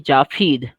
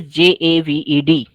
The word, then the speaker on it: Javed: Like when I was in Saudi Arabia, all the Saudi people used to call me Jafid. My spelling is Javed. So Arabic people have an unwritten law that if in English it is spelled with V, they will change it to fur because they don't have V sound, ver sound in their language.